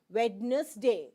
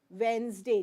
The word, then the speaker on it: Wednesday: is Monday Tuesday Wednesday it is not wedness day it is Monday Tuesday Wednesday just keep this thing